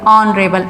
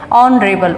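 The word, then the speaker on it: honorable: ऑनरेबल। एच जो है इसमें साइलेंट होता है, आ से स्टार्ट हो जाता है ये, ऑनरेबल, ओ से स्टार्ट हो जाता है, एन लगा देंगे।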